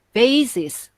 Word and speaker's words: vases: Faces, bacanya agak berat ya. 2 faces. Kalau bacanya ringan nanti jadi wajah. Faces, kayak face shield yang orang sekarang pakai pelindung wajah, itu kan face shield, face ringan. Kalau fast bacanya berat, vases gitu. Vases. Ya, vases karena huruf V ya.